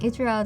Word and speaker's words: Ichiro: Yeah, Ichiro.